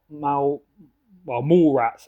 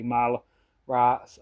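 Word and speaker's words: Mallrats: Got Mall Rats, I think it's pronounced, but I always say Mal Rats.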